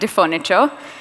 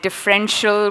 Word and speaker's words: Differniture: It has been butchered to death. I get it. Sometimes people call it differential, which goes into cars, or sometimes it's other things. But different furniture was my idea behind it. And I'd like to take